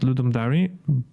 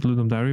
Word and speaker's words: Ludum Dare: Um, but it's actually actually pronounced Ludum diary, but I used to be I used to pronounce it Ludum Dari back in the day, but then I kind